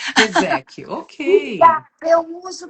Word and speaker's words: Rieszecki: Olha, esse nome é russo, imaginei. Fala lá para aqueles lados, mas aqui é Reseque mesmo, assim, bem fez. Reseque.